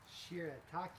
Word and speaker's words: shirataki: Shirataki. Shirataki noodles. Okay, so these are the noodles for our stir fry. They are only 10 calories and very low carb. Delicious. Shirataki.